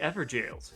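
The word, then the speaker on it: Evergaol: The Ever Jails, yes.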